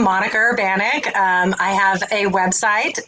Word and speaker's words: Urbaniak: that last name yes so it's urban then iak right um so yeah yes exactly so you can say urbaniac the maniac whatever you need to